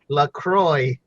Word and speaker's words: LaCroix: sponsor for Lauderdale's own Lacroix its flavored club soda basically it has an X at the end but you don't pronounce that and